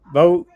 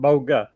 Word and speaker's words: Bogue: That's Bogue. Some people pronounce it Bogue and some pronounce it Boga.